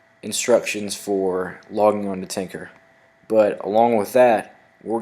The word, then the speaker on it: Tynker: In this workshop, we'll be using a website called Tinker. It's spelled Tynker.